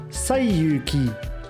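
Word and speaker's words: 西遊記: In Japanese, these same characters are pronounced Saiyuki.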